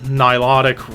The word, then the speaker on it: Nilotic: Now, of course, this is their new album, Vile Nilotic Rites.